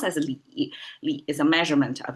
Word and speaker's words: 理: That pronounced as li.